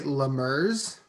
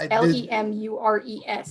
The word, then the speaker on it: Lemures: Did you say lemurs? Yeah, I think. Okay. I think that's how it's said. It's Lemures. It looks like lemurs, but yeah, this won't contribute anything to the discussion.